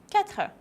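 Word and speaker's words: quatre: and all the world when you have qu you don't ask you cut her five Sanka six C's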